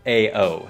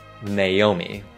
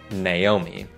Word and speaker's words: Naomi: đoán là hai chữ AO được đọc là Ao. Nhưng các đọc chuẩn có ba âm tiết, Naomi, Naomi. Và theo mình biết, người Anh thường đọc âm tiết đầu là Nai, Naomi.